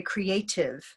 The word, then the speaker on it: creative: So you use a aspirated T, and Americans often will turn this T because of the two vowel sounds into the D.